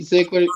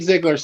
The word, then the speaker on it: Ziglar: and don't make it perfect like the great ziggler zig ziglar said see i even pronounced his name wrong you don't have to